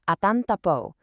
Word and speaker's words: atantapo: That's pronounced something like atantapo.